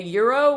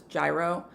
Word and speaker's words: gyro: And it can also be in a gyro, which is something Americans often pronounce as gyro.